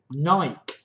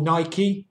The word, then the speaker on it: Nike: Over in the US, notable movers, really, Nike, or Nike, depending how you pronounce it.